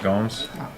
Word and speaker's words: Gomes: impressed with Gomes apparently her name is pronounced Gomes not g um pretty uh impress